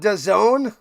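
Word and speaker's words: DAZN: They call it don. That's how you pronounce dazzen.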